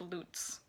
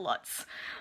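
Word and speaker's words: Luts: time I've seen it it's pronounced lutes not Lots um so I'm gonna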